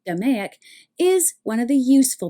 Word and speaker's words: DMAIC: DMAIC, and it's pronounced as if it were an actual word, DMAIC, is one of the useful bits of jargon.